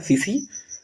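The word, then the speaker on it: tsetse: टी एस ई और टी एसई T silent होता है सीसी फ्लाई इसको बोलते हैं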